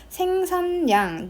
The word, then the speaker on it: 생산량: 맞고 디귿 마저 보겠습니다 디귿 니은 뒤에서 ㄹ이 니은으로 발음되는 경우입니다 그럼 얘는 비음하겠죠 ㄹ이 비음화가 되는 거예요 생산량 니은 뒤에서 1대1 매칭을 시키면 돼요 ㄹ이 리을이 니은으로 니은으로 발음되는 경우 맞고 불놀이 같은 경우는 일단